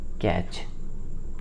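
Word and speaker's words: catch: देखिए कैच का स्पेलिंग क्या लिखते हैं? सी ए टी सी एच, यानी देखिए यहाँ पे आपको टी सी एच दिख रहा है तो आपका वहाँ पे टी साइलेंट है।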